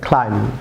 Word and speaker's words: climb: যেমন CLIMB, be silent থাকবে, ক্লাইম।